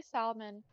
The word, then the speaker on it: salmon: As someone who works at a place that sells salmon, I get on pronouncing the L quite a bit. And I'm not going to change. People are always correcting me. And I don't I don't foresee myself dropping the L.